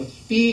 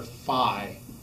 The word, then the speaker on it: phi: is the greek letter phi so i don't know why i've always heard it referred to as fee and i may just be wrong but i call it the fee coefficient and if we